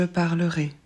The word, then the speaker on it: parlerai: Je parlerai. Pour je, on va rajouter AI en plus de l'infinitif. Normalement, on devrait le prononcer est, mais là, on le prononce et pour faire la différence avec le conditionnel.